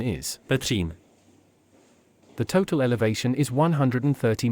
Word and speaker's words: Petřín: The bottom station is called Újezd, from which the funicular climbs 510 length meters to the hill station called Petřín. Correct pronunciation is Petřín.